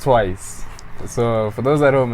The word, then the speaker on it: TWIIS: It's actually pronounced TWIIS.